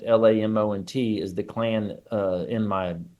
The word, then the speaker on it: Lamont: is how you say, and Lamont, Lamont, is the clan in my novel.